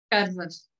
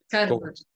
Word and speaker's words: Coerver: como é que seria a pronúncia mesmo certa? Carvas. Cover. Cover. Carvas. Com uma capa em inglês, é isso? Só que com uma pronúncia um bocadinho mais esticada, é isso?